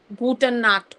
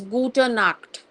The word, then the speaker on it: Gute Nacht: So I'm just specifying here this thing because you should be pronouncing the word correctly, because most of the students they say Guten Nacht also. It is Gute Nacht.